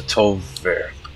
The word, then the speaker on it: Tol'vir: Sup guys, today we're gonna be doing the Lost City of the Tol'Vir. Yeah, that's how you pronounce it.